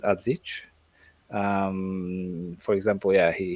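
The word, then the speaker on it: Adžić: like uh adich because I refuse to say his name uh differently because his name is adich um for example yeah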